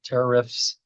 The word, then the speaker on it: tariffs: I can't say tariffs without making it sound like terrorist, but tariffs to really emphasize the two syllables, right?